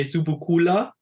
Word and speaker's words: Subucoola: it mean laughs uh it's pronounced in German we say zubukula uh pretty much what